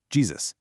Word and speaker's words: Jesus: And honestly, it wasn't until the 17th century in English when the letter J finally acquired its distinct hard consonant sound that we arrived at the modern pronunciation, Jesus.